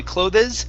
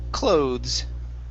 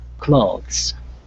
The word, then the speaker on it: clothes: closed captioning not available the e here is not pronounced we don't say clothes the word is clothes clothes all right very nice